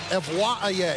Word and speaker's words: Evwaye: That's the last time I'm going to try to pronounce it. Evwaye is how it's pronounced.